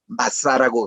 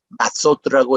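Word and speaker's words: מצה: 무교병을 유대인 말로 마사라고 그럽니다. 이 마사는 여성 단수형이고 이거를 복수형으로 읽을 때는 마소트라고 읽어요.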